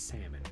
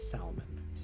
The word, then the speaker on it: salmon: have a town called salmon arm it's it's salmon not salmon please don't say salmon it's weird that is